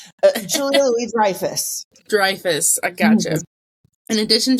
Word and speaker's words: Julia Louis-Dreyfus: So it's Julia Louis-Dreyfus.